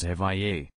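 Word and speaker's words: Evija: electric hyper car will be named the Lotus avaya and in case you're wondering Lotus says it's pronounced FIA the name means the first in existence or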